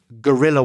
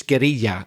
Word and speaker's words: guerrilla: You wage war, and it may be guerrilla warfare. I know in Spanish it's guerrilla, and you invented the word, but our English pronunciation of it is guerrilla.